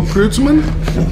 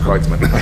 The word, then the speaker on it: Kreutzmann: I said, "Bill Kreutzmann?" He said, "Well, it's actually pronounced Kreutzmann."